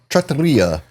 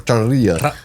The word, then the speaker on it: trattoria: I had a So, I worked at a Mulberry Street trattoria. However you say it. I can never roll my roll my Rs. Trattoria.